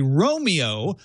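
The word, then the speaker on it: Roamio: The Romeo, the $200 Romeo, I don't think should be called Romeo. It's spelled R-O-A-M-I-O.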